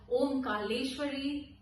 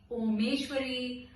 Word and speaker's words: Omkareshwari: My name is Omkareshwari, but a lot of people end up mispronouncing it and calling it in a wrong way. I have been called Omkareshwari, Omeshwari, Omkar, Omkeshwari, and to the extent that they have also called me.